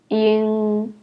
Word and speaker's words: ing: The first one, It is very similar as the word song, And the second one, And the third one is similar as the word sing, ing.